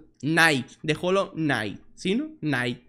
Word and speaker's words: Knight: Knight. Se dice Knight. Trae una K ahí, pero Knight.